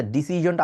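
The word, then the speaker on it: decision: দেখতে পারছি না আচ্ছা ডিসিশনটা আবার বলতেছে ডিসিশন মানে যে জায়গায় সন বলতেন ডিসিশন ওটাকে জন বলতে হবে ডিসিশন ঠিক আছে ডিসিশন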